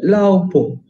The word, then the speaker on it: 老婆: Wada laupo. Laupo. Pakcik tua saya. Wada laupo. Wada laupo. Bo. Po. Po. Pakcik atau isteri? Isteri. Wada laupo. 我的老婆 jangan salah pronounce nanti jadi pak cik ya and oh uncle.